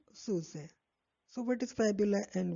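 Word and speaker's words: syuzhet: is right and susan s y u z h e t so we pronounce it suse so what is fabula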